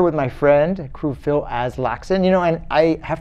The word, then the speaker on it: Aslaksen: to apologize to you because for years i pronounced your name alaskan you wouldn't be the first to call a lot of things phil as laxan is that's the correct pronunciation oh yeah it's